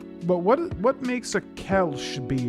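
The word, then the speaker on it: Kölsch: Uh this is a Kelch, I think the correct pronunciation is Kelch.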